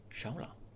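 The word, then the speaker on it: Shaula: Shaola. That's how it's pronounced.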